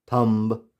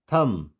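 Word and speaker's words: thumb: लेकिन हमें रूल पता है कि अगर एम के बाद बी होगा, वो वर्ड की स्टार्टिंग में हो, बीच में हो या लास्ट में कहीं भी हो, तो वहाँ पर हम बी को प्रोनाउंस नहीं करेंगे। तो इसकी जो सही प्रोनाउंसिएशन है वो क्या होगी? बॉम्ब। बी क्या हो गया? साइलेंट। कॉम, थम, क्लाइम।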